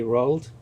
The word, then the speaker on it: Roald: topic today because recently how do you say his first name rauld roll I say rolled rolled doll which is Mr doll